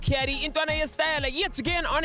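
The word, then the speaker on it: Cawdur: It's your boy C-A-W-D-U-R, pronounced Caddy.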